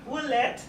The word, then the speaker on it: Willette: And that's right, I have Sharon and Steve Willett.